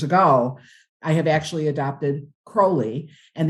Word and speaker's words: Crowley: I have actually adopted Crowley and the only way frankly that I remember that that seems to be the more accepted pronunciation is I always say it's a crow not an owl right so probably it's